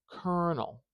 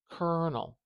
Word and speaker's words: colonel: decode what you've said so if we have kernel kernel do you hear how long that ER is Kernel we want